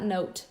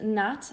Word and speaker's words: knot: I think you mean not note. But Yes, to tie the knot. That is how you say to get when someone gets married. So Thomas, it's knot and not note. So K-N-O-T is the right way to say that.